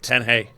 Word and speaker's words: Tanjay: It's spelled Tanjay, but you pronounce it Tanjay. Tanjay, which I guess is a real small city, basically a couple hours north of here.